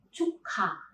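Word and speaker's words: 축하: Kalian lihat, konsonan kiok berada di bacim positions, sedangkan konsonan hiet itu ada di initial positions. Maka, waktu kita melafalkan, konsonan kiok ini berpindah waktu kita melafalkannya ke initial positions dan dia berubah menjadi aspirated. Jadi, melafalkannya bukan cukha, melainkan cukha.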